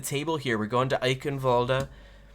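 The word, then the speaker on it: Eichenwalde: here we're going to eichenwalda as soy of the OverWatch league would like me to pronounce it she is from uh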